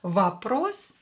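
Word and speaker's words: вопрос: that you memorize them vapros is a question or will be pronounced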